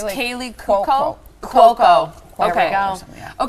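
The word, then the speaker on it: Kaley: Yeah, it's Kaylee Cuoco.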